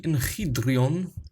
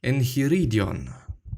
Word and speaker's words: enchiridion: We're gonna go through the enchiridion, or actually, as I have seen and realized that I've been mispronouncing it for quite some time, the enchiridion. There is another syllable, I guess.